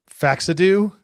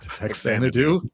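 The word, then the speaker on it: Faxanadu: That's like you're racing up the mountain and then the dark fantasy of faxadu. Is that how you say it? Faxanadoo.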